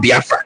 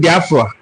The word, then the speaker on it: Biafra: European contact was when that word Biafra is documented to have been used by the Portuguese. It is an Igbo word, but the way the Portuguese people mentioned it, they didn't know how to pronounce it, Biafule, meaning not properly cooked, Biafule, and then they call it Biafra. That is the word Biafra. The bite of Biafra also